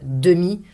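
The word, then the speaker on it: demie: Often you will hear 8h30, because again, we eat the demi, we eat this E.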